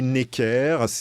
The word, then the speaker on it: Necker: On dit Saint-Just. Comme on dit Nègre. Est-ce que vous dites Nègre à vos étudiants ? Alors, non. Moi, j'ai Necker.